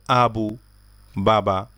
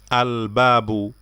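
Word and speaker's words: الباب: হুরুফুল কামারিয়া যেগুলো আছে এগুলোর পিছনের আলিফ লামটা উচ্চারণ করতে হয় যেমন দেখেন আল আবু বাবা আল বাবু দরজা এখানে আমরা বলি না আব্বাবু এখানে আলিফ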